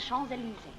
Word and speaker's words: Champs-Élysées: It's the Champs-Élysées. Did I pronounce that nicely?